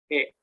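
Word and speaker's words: へ: E, E, Hiragana he. E, Tapi ini eh, bentuknya partikel dibacanya e karena partikel dibaca e.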